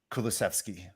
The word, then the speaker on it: Kulusevski: yeah okay and and then we have diane kulaszewski so well pronounced thanks i i looked it up so i before i even qualify kulusevski um i'll i'll just get i'll just get